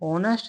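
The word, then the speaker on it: honest: तो ऑनेस्ट शब्द में जो आपका साउंड आ रहा है वो क्या आ रहा है? वोवेल्स आ रहा है। क्योंकि एच यहां पर क्या है? साइलेंट है।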